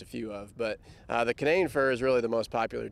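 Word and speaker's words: Canaan fir: But the Canane fir is really the most popular tree that we can grow on our farm. Why is Canane fir? And that's Canane, how you say it? Canane fir. Canane fir.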